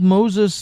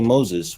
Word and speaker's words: Moses: him Mose, and that we don't say Moses, we say Moshe. But the modern Israeli mispronounce Moshe. It should be closer to an S sound. Yes, which is closer to the Egyptian.